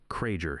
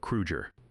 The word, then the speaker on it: Krueger: He mispronounced Hans's name, Kraeger instead of Krueger.